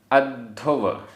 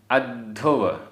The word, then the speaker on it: अद्धुव: अद्धुव अद्धुव आधा द ध अद्धुव।